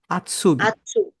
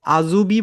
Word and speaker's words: Azubi: যারা আউস বিল্ডিং করে তাদেরকে বলা হয় আউটসুবি, না, আউটসুবি না, আতসুবি। আতসুবি। ঠিক আছে, আজুবি বলবেন না কেউ, এটাকে হচ্ছে আতসুবি, এইভাবে উচ্চারণ করো।